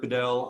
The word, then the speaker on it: Bedell: Bedell. Sorry if I screw up the pronunciation on that. No, that's perfect. My name is Bedell.